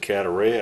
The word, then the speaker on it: Cadaret: I've always pronounced it Cadaret. I think the T is silent.